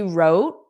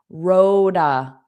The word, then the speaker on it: wrote: Now notice I didn't identify it but notice the T in wrote is not pronounced. It's also that flap T because if I do pronounce it wrote then it forces me to take a pause roa. She roa. So actually I could have put the same because wrote a becomes roa roa roa.